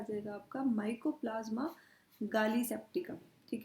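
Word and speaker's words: gallisepticum: आ जाएगा आपका माइकोप्लाजमा गैली सेप्टिकम पर आप इसको प्रोनाउंस ऐसे करोगे गाली सेप्टिकम क्यों करोगे देखो तरीका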